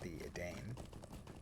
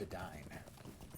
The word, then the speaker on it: Edain: And the name of the Elvish name for men is Edain, and for many years I pronounced it the Edain. But no, it's Edain.